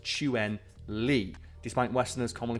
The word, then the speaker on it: Chun-Li: as Chun Ley in pinin and should be pronounced chuen Lee despite westner commonly pronouncing it as chuning which is fair and that maybe it's like